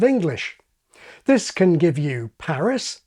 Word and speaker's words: Paris: This can give you Paris, like parish and Harris, Cuba, like cube, or San Pedro, like cathedral, or Einstein rather than Einstein, and on and on and on.